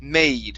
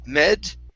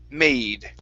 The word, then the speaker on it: made: Uh this is uh we're looking at the long a so it's a made. Instead of med, it's a made.